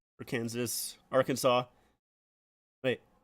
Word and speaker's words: Arkansas: lot about uh it's Arkansas okay yeah okay right that's that's what I thought Arkansas which yeah it is very very weird that is pronounced like that but I used to